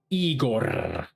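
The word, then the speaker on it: Igorrr: And it's spelled I-G-O triple R, Igor.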